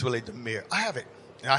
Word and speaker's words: Damier: We pronounce it Damier, but it's really Demir.